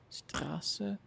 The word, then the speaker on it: Straße: But it's like a S sound, like Straße.